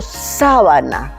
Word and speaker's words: sábana: En cambio, si yo digo sábana, la sílaba tónica es sa y es una prenda que se usa en las camas para ruparse.